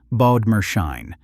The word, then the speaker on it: Bodmerschein: And in one of the strangest inventions in Swiss corporate history, Gasser created a financial instrument he named, mockingly, the Bodmerschein, pronounced Bodmerschein, the Bodmer certificate, a device built specifically to